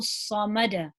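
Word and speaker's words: صمد: So it's Allahu samad. The sad is heavy, so try and emphasize it.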